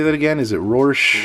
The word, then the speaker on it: Rorschach: Is it Rorschach? Rorschach, yeah.